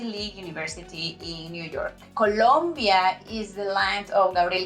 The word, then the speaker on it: Colombia: Colombia, okay? Not Columbia. Columbia is an Ivy League university in New York. Colombia is the land of Gabriel García Márquez and Vallenato.